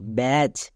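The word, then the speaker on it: batch: এইচ এর জন্য চো বি এ এর জন্য ব্যা তাহলে কি দাঁড়ালো ব্যাচ বি এ টি সি এইচ ব্যাচ এবার এখানে টি টা হলো সাইলেন্ট লেটার কেন কারণ সি এইচ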